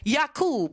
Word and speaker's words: Yaqub: Yaqub, because there were no J's pronounced back then.